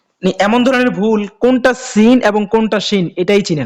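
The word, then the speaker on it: س: এই সিন এবং সদে এই দুটি হরফের মধ্যে অনেক পার্থক্য, এবং এই দুটি হরফের উচ্চারণের মাখরাজও কিন্তু একই।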